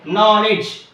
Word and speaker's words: knowledge: next coming to here knowledge k n o w l e d g e knowledge so here in this word the letter K is silent psychology here the letter